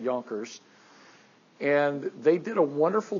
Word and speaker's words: Junker: It's spelled with a J. It looks like Junkers, but I believe they pronounce it Jonkers.